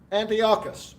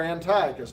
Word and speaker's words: Antiochus: you're going to have Antiochus or Antiochus depending on how you pronounce it and typically what